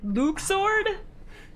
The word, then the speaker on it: Luxord: Luxord. That's it. That's how you say it, Luxord.